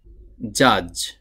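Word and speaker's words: judge: জাজ মানে হলো বিচারক এখানে যে ওয়ার্ড বা শব্দটি আমরা দেখতে পাচ্ছি এই শব্দটির মধ্যে একটি ডি এসেছে এই ডি ক্যারেক্টার বা এই ডি লেটারটি উচ্চারণে আসছে না একটু চোখ দিয়ে ভালো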